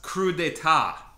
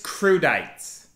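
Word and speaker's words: crudités: that's a tough one everyone gets it wrong it's pronounced crudeta I took four years of Italian it's crudites um this is a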